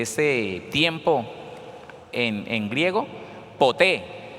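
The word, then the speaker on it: ποτέ: tiempo en en griego poté p o t e con acento en la e poté y significa en algún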